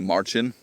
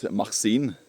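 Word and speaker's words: Marcin: my name for instance my real name is actually Marchin Martin or Martin and a Norwegian they used to pronounce it Maxin which which is basically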